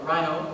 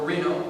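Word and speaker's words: Rino: connecting to that energy r i n o Rhino or Reno however you wish to pronounce it is fine and being able to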